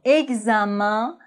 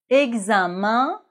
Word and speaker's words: examen: Mais dans les mots examen et moyen, E-N se prononce en, examen, moyen.